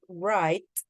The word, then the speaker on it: right: have a good sound so you say it with the T sound at the end all right so it's not all right all right okay it's t the G and the H is actually silent so you don't say GH all right that's it